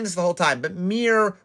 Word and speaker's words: Myr: the whole time but Mir rhymes with like deer it's from Mir mad